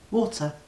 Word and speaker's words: water: It's, I know, I can hear that it sounds like it's spelled W-O-O-D-E-R, water. Or not water. I guess W-O-D-D-E-R. Yeah, water. Water. And so I want to try and say it like you say it. Water. I can't even get the first syllable right. War. Say it again. War. Like when people go to war. War. Water. War. But there's no R. War. You don't say the R in war.